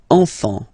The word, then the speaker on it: enfant: Don't pronounce the T, you don't pronounce the S. Enfant, okay?